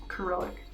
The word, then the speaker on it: Cyrillic: My husband pronounces it Cyrillic. Right? You say Cyrillic? Cyrillic.